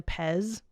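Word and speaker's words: Pezz: Okay, so I shortened it to Pez. Like Candy.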